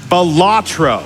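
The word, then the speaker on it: Balatro: had to donate money to correct him it's pronounced batro all right but an update on that we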